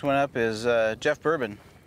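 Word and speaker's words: Boerboon: up is uh Jeff bourbon spelled b-o-e-r-b-o-o-n but pronounced just like one of my favorite drinks bourbon from Cave Creek Arizona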